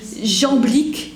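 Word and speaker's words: Jamblique: plus encore à l'Est jambique ça s'écrit J a M B l IQ qui est disciple de porphyre donc il y a Plotin porphyre comme le porphyre et jambique et c'est jeanblique qui va donc réaliser cette synthèse entre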